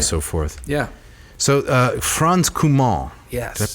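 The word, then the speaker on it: Franz Cumont: licensing rights right so forth yeah so uh franz kumar yes did i pronounce that correctly yes yeah frenchman yes what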